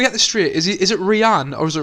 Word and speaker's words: Rian: Is it Rian or is it Ryan? It's Rihanna Johnson. It's spelled R-I-A-N.